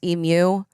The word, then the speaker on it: emu: They have emu, which he said is pronounced emu, and people get that wrong all of the time.